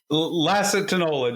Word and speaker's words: Lacitinola: Lacitinola, just like it looks.